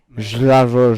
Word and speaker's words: Slavoj: He's Slavoj Žižek? Slavoj. It's Slavoj. Slavoj. Slavoj. Slavoj. Slavoj. But it's pronounced Slavoj.